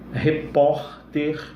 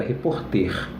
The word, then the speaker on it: repórter: Então, se ela termina com R, açúcar, repórter, viu lá? Açúcar, repórter, revólver, viu lá? São paroxítonas terminadas em R e, portanto, precisam ser acentuadas. Se você não colocar o acento no repórter, fica reporter.